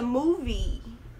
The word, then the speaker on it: movie: A pronúncia correta dessa palavra filme seria let's watch a movie. Movie, não move. Movie, mover, filme.